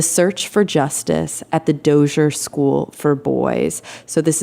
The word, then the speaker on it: Dozier: Is that how it's pronounced? Dozier? Dozier? That's correct. Dozier.